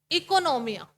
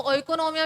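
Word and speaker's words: οἰκονομία: इकोनोमिया। इसको ओइकोनोमिया भी बोल सकते हैं, लेकिन इकोनोमिया ज्यादा बढ़िया है, ओ को आप साइलेंट रखिए।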